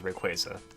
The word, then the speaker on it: Rayquaza: With a hard A? So would that make it Rayquaza? I think that would make it Rayquaza. So the actual way it's pronounced is Rayquaza.